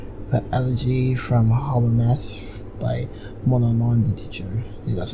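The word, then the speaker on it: Monomon: The elegy from Hollowness by Mononon the teacher. See, that's how you pronounce those names.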